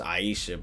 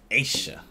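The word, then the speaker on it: Ayesha: like how flight just casually just mispronounce people's names but like I know he knows her name's Aisha bro but he says Asia and her name literally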